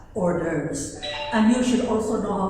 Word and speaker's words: hors d'oeuvres: Those are French words, and it is pronounced as hors d'oeuvres.